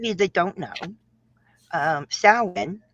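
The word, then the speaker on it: Samhain: Um, for those of you that don't know, um, sin, which is spelled Sam Hayne.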